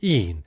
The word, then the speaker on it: e'en: And note that cheered is pronounced here with two syllables, cheered, and even with one syllable, een, in order for the line to scan.